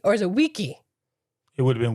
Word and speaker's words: vici: So, yeah, so the hard C is the way Latin is spoken. If you see a hard C or if you see a C, it's not an S sound, it's a C sound.